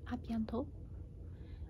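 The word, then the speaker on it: à bientôt: say like see you then you can say abiento or a la portion so like because it's less syllables can say abiento ah biento a piento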